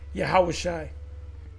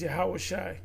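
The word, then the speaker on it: יהושע: well Joshua is uh yahawashi Moses second and command Joshua in the Hebrew is yahawashi one of the Kings of Israel HOSA his name in the Hebrew is hawashi not yahawashi and our lord's name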